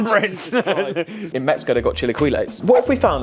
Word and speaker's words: chilaquiles: Chilaquiles? I don't know. Chilaquiles. It's a new one for me. Mate, you're not far off. I don't even know how you pronounce it. Chilaquiles rojos. Chilaquiles.